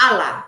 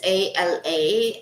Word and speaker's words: Ala: Allah, and it's not Allah, it's not ALLAH, it's ALA, Allah. I don't know if I'm pronouncing it wrong.